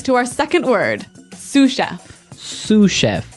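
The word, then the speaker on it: sous: our second word sushi suf suf suf s o u s so the S is silent because it's like a French word yeah something like that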